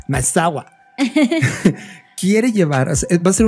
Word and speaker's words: Maezawa: Bueno, o lo estoy pronunciando. Maezawa.